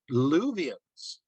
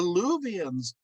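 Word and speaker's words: Luwians: way back to the time of the ancient luvians and you're looking at me like luvians who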